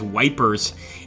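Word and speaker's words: Ypres: ha ha he says wipers is how the British troopers pronounce the e / that's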